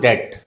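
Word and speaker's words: debt: सबसे पहले है, इसको बोलते हैं हम डेट। बी साइलेंट रहता है इसमें और इसमें आवाज आ रही है, सेकंड प्लेस की आ रही है पेन वाली आवाज, डेट।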